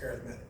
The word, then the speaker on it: arithmetic: equations based on patterns also called arithmetic sequences or arithmetic sequences pronounced arithmetic first i want to